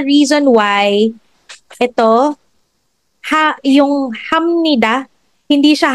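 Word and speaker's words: 합니다: This is the reason why ito ha yung hamnida hindi siya hapnida.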